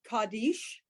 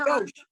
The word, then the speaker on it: kadosh: Kaddish. Nope, that's our new vowel that's being propped up with the O Oh, on top. kadosh.